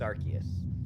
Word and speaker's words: Arceus: call arceus and yeah i don't care how you pronounce it it's arceus now i wish